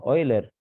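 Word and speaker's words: Euler: mil setecientos alguna cosa hasta que oiler oler no se escribe oiler pero matemáticos suizo en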